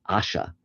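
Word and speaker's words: Ayesha: Her name was Aisha, which H. Rider Haggard said should be pronounced Asha.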